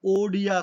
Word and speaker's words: ओडिया: वो जो उड़िया, जो वर्ड उड़िया बोलते हैं, उड़िया के स्थान पर ओडिया शब्द का प्रयोग किया गया था, इसलिए 8वीं अनुसूची में उड़िया भाषा का उच्चारण ओडिया होना चाहिए, ठीक है।